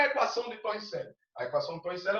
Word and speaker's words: Torricelli: A pronúncia Torricelli, evangelista Torricelli, mas a gente pronuncia, né?